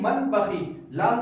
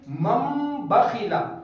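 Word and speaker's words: مَنْ بَخِلَ: आनी चाहिए कैसे पढ़ेंगे मम बखिल यहां पर नून की आवाज को साइलेंट कर देंगे बल्कि नून की जगह पर मीम की आवाज लाएंगे इसी वजह से आप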